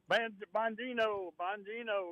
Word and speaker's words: Bongino: Bongino. Look, I'm this Trump guy. He acts like he's getting serious about doing something about all this crime. Yeah. As long as he keeps putting crazy people like Bongino and the cash in there, then, they're going